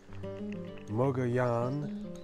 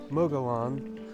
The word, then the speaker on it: Mogollon: whatever also this ancient civilization that lived up here called Moga Yan they say I don't understand why it's pronounced Moga Yan because this Spanish didn't even come here until 1500s and this mogoyan which I would like to call them Mogollon they were here in